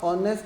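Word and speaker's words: honest: word लिखता हूं ऑनेस्ट अब ऑनेस्ट में एच प्रोनाउंस नहीं होता है ऑनस की अगर मैं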